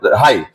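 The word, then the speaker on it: high: लेकिन इसी ढंग से हम लोग देखेंगे एच आई जी एच यहां हम लोग जी एच को साइलेंट रखते हैं। यहां हम लोग जी को जी एच को साइलेंट रखते हैं। हाई या फिर लाइट या फिर हम लोग देख सकते हैं।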